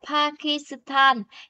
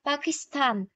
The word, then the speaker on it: 파키스탄: Ở đây người ta không đọc là Pakistan, cái quá là cái chữ S trong tiếng Anh đưa qua thường là chữ sư của tiếng Hàn, nhưng mà nó đọc sẽ nhanh đó, Pakistan.